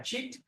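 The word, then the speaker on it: cit: Okay, no, in Sanskrit, the word C, we pronounce it cha. Right? Cha, cha. Okay, not C, right? Cha. So a Chit Vaibhava.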